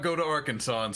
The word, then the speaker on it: Arkansas: be kept in bathtubs Arkansas must be pronounced Arkansas in Arkansas it's illegal to buy